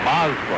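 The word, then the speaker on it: Amezaga: Samazagua, or Mazgua, I should say, that's the way they're pronouncing it here.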